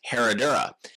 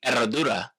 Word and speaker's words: Herradura: Now, you'll often hear Eradura anglicized as Herodora. It's a tricky word for uh English speakers, especially Americans, because you have the silent H and the double rolled R.